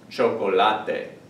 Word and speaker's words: chocolate: It's actually chocolate. That's how this word is pronounced in Spanish, chocolate. They look the same, but they're pronounced differently.